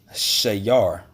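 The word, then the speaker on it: שיר: When you go into that word music, is pronounced shayar, shayar, and it says a song, lyric song, religious song, song of Levitical choirs.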